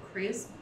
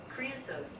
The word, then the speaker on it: creosote: to describe impossible things like the scent of creosote? I don't know. I'm gonna look it up. Welcome to the Arizona, like. I mean, I'm assuming it's thing. A plant. It's a bush! Pronunciation. Creosote.